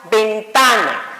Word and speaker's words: ventana: Entonces diríamos ventana. Entonces ahí, ta sería la sílaba tónica.